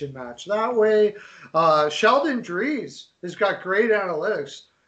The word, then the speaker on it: Dries: Sheldon Dries has got great analytics. Dries, I think, is actually how it's said.